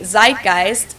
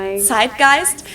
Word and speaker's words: Zeitgeist: and some other languages too Americans usually say Zeitgeist in German we pronounce it Zeitgeist and this consists of the word size which